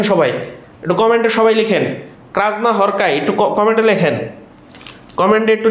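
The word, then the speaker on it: Krasznahorkai: দেশের হাঙ্গেরির নাগরিক আমাদের এটুকু পড়লেই হবে লাস্ট ক্রাজনা হরকাই ক্রাজনা হরকাইজনা হরকুট ডাবল উচ্চারণ করবেন আগে বলবেন ক্রাজনা পরে হরকাইজনা হরকাই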